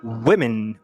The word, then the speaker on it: women: Pode ser até a letra O, como por exemplo, women, women.